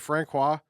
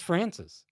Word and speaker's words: Francis: Is it Francois? What's the No, right way to say it's Francis. Francis? That's how they say it on the scanner.